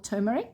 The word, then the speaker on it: turmeric: And this recipe specifically calls for turmeric, or turmeric, as the rest of the world pronounces it.